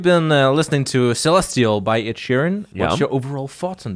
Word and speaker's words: Ed Sheeran: his new track Celestial say his name again Ed Sheeran that's better he said eat Shirin eat here in I know how to pronounce Ash Ketchum but I can pronounce edgerin